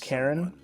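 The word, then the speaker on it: Charon: Now, granted, there is a character in this game called Karen, and it's pronounced like the the fairerryy men of the dead, but it is Karen.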